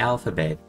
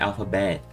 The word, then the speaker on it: alphabet: E a palavra é alphabet. Reparem que esse L é a nossa sílaba tônica, enquanto bet tá lá no fim, entendeu? Ele é mais curto, não é alphabet, e sim alphabet.